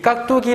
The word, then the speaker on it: 깍두기: 깍두기라고 했을 때, 이 깍두기 발음해보면 어떻게 발음되냐면, 깍두기라고 디귿이 된소리로 발음이 됩니다.